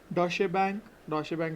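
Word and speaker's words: Deutsche Bank: डॉशे बैंक इट इज़ हाउ it's pronounced. तो डॉशे बैंक appointed Kaushik सफारिया या सफारिया what ever its सीईओ for India.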